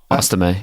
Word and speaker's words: Estime: Also, I want to double check how you say his name. Also, so this is for me, one for you. Audric Estime. Estime, yeah. Audric Estime. Estime. Okay, we're good. Yeah, you got it.